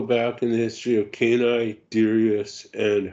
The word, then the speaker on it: Canis Dirus: Yeah, it's Canis DIrus is the correct pronunciation.